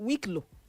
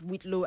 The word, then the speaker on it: whitlow: That's the spelling of Whitlo and is pronounced as spelled.